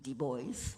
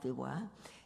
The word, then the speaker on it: Du Bois: El sociólogo afroamericano, que en inglés se pronuncia W.E.B. Du Bois, no Du Bois, En su libro cultural